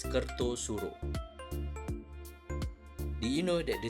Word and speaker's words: Kartasura: But do you know that even though it is spelled as Kartasura, it is actually pronounced as Kertosuro?